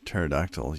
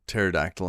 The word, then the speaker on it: pterodactyl: Why can't you hear a pterodactyl use a toilet? I know where this is going. Because the P is silent.